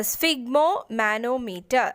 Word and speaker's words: sphygmomanometer: the measuring blood pressure the answer is uh sphygmomanometer that's how you pronounce this uh so it consists of inflatable